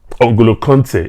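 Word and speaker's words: N'Golo Kanté: the nguolo can taken angola conte as some people say that's correct pronunciation now so basically what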